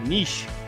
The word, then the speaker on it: niche: Oh, you can say both. It depends on Okay. how fancy you are. Okay, because I have some people I talk to that are international and they pronounce it niche.